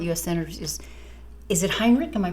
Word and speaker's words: Heinrich: of our current US senators is is it Heinrich am I pronouncing his name yeah Martin Hinrich Hinrich okay so I saw a little post